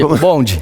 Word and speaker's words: bonde: De Brasil se decía bonde. Sí, yo viví en Brasil 20 años, ¿no? Y en Brasil se dice ubonde. ¡Ay, te sale re lindo! ¿Cómo se dice? Sí, bonde.